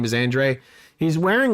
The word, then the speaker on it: Andrade: has his moment Andre so they pronounce it Andre right M event weird not how it's spelled that's not spelled right